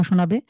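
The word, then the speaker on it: شين: যায় তাহলে একটু অশুদ্ধ শোনাবে এটা সিন যে ঠিক যে জায়গা থেকে সিন আগে উচ্চারণ করবেন এরপরে যা স্বাভাবিক এরপরে শিন এটা সহজ বাংলা যে তালব স ঠিক সেই স অথবা ইংলিশে এস এইচ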